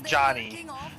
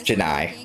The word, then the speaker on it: Janai: yeah that works too his name is Johnny no no it's Janai I'm telling you it's Janai I am looking at Johnny I promise you it's pronounced Janai AC you cannot convince